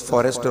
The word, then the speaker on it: Forster: So, Mr. Forster, some people pronounce it as Forester also, had never seen a passenger wearing the traditional Vaishnava dress of India.